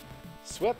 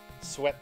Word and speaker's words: sweat: it's it's a blessing sweat rhymes with wet doesn't rhyme with wheat yeah sweat okay yeah sweet is